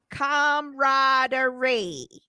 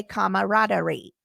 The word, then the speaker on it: camaraderie: a friendly good fellowship it has a silent a that trips people up it is pronounced camaraderie that's right so you were right but a lot of people say camaraderie um oh this